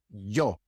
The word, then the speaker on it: yo: So the word yo, I, is usually not pronounced yo, but yo. It is not a hard J sound, very pronounced, like in the name Joe. No, it's a very light J sound, yo.